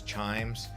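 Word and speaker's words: Chijmes: Also a very famous colonial area known as Chimes. Uh it's got a J in the middle. So take note of that when you're trying to pronounce it.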